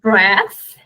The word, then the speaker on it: breath: So, breath, sem o E, breathe, com o E.